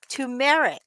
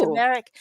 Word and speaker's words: turmeric: syrup dextrose natural flavors colors tumeric which is interesting because it's turmeric yeah it's got tumeric